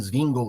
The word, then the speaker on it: Zwinglio: do anglicanismo dos Batistas Z de zwinglio também zingle né como a gente descobriu que se pronuncia e h hoje estamos